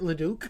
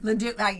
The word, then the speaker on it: LeDuc: I just want to say, I should have said before, I pronounce it LeDuc. LeDuc, yes.